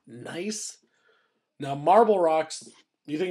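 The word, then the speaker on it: gneiss: are nice and marble again this is pronounced nice now marble rocks you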